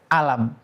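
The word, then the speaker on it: ألم: Tapi di awal surah Albaqarah misalkan kita membaca alif lam mim. Tapi di surat Alf'il kita bacanya alam. Alam taraifa faaluka biasil. Nah, ini tulisannya sama tapi bacaannya berbeda.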